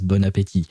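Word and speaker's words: bon appétit: very end uh because you don't pronounce the last T which is why you pronounce it as bonapeti if you were to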